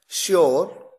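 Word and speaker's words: sure: शुगर, ध्यान दीजिए यहां पर केवल एस आया, एच तो आया ही नहीं, लेकिन उसके बावजूद प्रोनाउंसिएशन में, उच्चारण में शलगम वाला श है। तो देखिए शुगर, श्योर।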